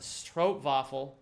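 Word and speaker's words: stroopwafel: Oh, the W is a V. So, it's like, please pronounce trovafle correctly. It's pronounced strovafle, not stro.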